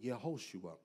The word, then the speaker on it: Yehoshua: In the Hebrew, the term is Yeshua, which is a shortened form of the word Yehoshua, which is really what you see as Joshua in the Old Testament.